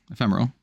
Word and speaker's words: ephemeral: there's a mechanic on crouching tiger which says emperial I don't know how you pronounce that but if say ephemeral ephemeral that's it yeah so I imagine that could